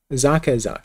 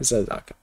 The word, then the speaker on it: Zaka: Zaka, not Zazaka.